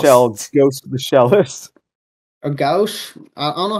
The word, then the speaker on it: Gauche: Or Gauche. I don't know how to pronounce the name. It's Gauche.